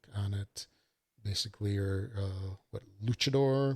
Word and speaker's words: luchador: Basically, you're what, Luchador? I believe that's how you say it, not Lucador.